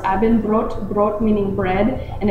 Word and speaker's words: Abendbrot: And dinner is pronounced Abendbrot, brot meaning bread, and it's served with sausage,